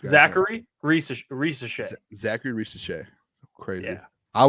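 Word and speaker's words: Zaccharie Risacher: Zachary Risache.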